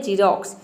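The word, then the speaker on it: Xerox: Next rule है rule number 2 है, यदि किसी वर्ड के शुरू में यदि एक्स हो तो वहाँ पे एक्स को आपको ज प्रोनाउंस करना है।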